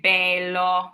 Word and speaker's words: bello: Now, if you go in the south of Italy, you might hear them say bello. You might hear that AY in the word.